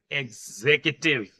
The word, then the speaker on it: executive: The correct pronunciation of this word is executive. Correct pronunciation is executive.